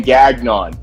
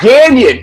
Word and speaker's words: Gagnon: You pronounce my last name Gagnon. It's Gagnon. It's French Canadian.